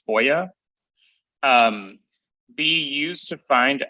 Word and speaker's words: FOIA: Freedom of Information Act or foia is the acronym otherwise pronounced as foia um be used to